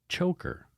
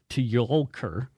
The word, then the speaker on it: Tjoelker: It's Megan Choker, but it's spelled Tjoelker. So she said, it's pronounced like choker. So thank goodness it's pronounced like choker, because if I had to say Tjolker, I would sound like